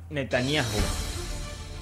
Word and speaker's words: Netanyahu: La pronunciación exacta del presidente de Israel es Bibi Netanyahu. ¿Cómo es? Netanyahu.